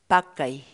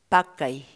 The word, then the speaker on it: pakay: de vídeos en la que te enseñamos a pronunciar algunas palabras en quechua así que nuestra palabra del día por hoy es mckay mckay mckay la palabra quechua pad thai en español significa